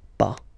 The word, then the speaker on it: pas: have to put this PAH ok so first no then the verb and after that PAH ok we write it p is ok but as usual final s is not pronounced so its paw ok remember one thing